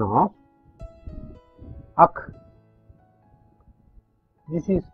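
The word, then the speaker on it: ஃ: This is called akh, and this is something like the pronunciation of akh. This is pronounced as akh, and it is a triangle of three small circles.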